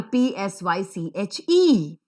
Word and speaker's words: psyche: like all of us we never know as to how to pronounce the word l-a-m-b or p s y c h e it's pronounced as lamb and psyche so how will we